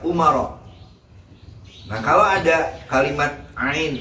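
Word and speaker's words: عمر: Nah Umar itu isim ghair munsharif. Makanya dibacanya ketika dia majrur dibaca Umar.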